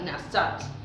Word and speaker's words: nasat: Se dice, dejado significa nasat, acento en la segunda, propiamente, golpear, dispersar, empujar.